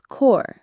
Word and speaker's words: corps: Number 5 is kɔːr, C-O-R-P-S, as in press corps.